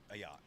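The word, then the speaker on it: Ayotte: 22-y old man charged with threatening to kill New Hampshire Governor Kelly Ayote. How do you pronounce that? Ayote. Yeah. Ayat.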